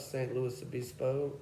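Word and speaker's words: San Luis Obispo: St. Louis Obispo, that's how you say it, and all these little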